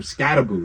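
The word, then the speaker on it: Skattebo: I told my boy like, "Yo, why the was this guy calling him Scataboo?" He's like, "It's how you say his name." I was like, "Whatever. Whatever. Cam Scatbo, man.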